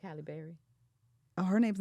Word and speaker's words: Halle Berry: Uh, Halle Berry. I've been saying that woman's Halle Berry. Holly. Child. Her name ain't Holly Berry. Halle Berry.